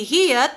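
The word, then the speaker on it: 히읗: Si hiyat, kapag nasa gitna, yan, kapag nasa final position, ano naman siya? Final, per syllable po ang pinag-uusapan kapag positioning, ha?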